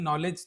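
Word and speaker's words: knowledge: जैसे हम बोलते हैं नॉलेज तो इसमें के से स्पेलिंग बन रहा है। साइकोलॉजी की इंस्पायरिंग साइकोलॉजी जब हम बोल रहे तो पी से बन रहा है।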